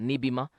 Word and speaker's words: Nibima: safety and efficacy of let me pronounce the locally uh name they pronounce that nibima uh yeah efficacy of nibima as a potential treatment for kobit 90.